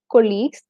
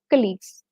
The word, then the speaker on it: colleagues: them as your colleagues, not as colleagues, which we Malayalis normally tend to pronounce. It's colleagues.